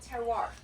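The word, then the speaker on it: terroir: we're tasting is called terar ter means land in French it's a soil it's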